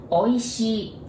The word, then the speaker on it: Oishii: Oishii. There are 4 sounds, 4 Japanese characters, but I want you to take a look. There are 2 I's there at the end.